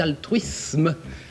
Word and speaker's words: altruisme: un cadeau oui c'était altruisme un S avant une consonne se prononce S et non Z je crois que on